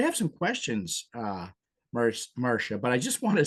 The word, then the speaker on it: Marcia: was informed by Marsha that in fact the pronunciation is Marsha.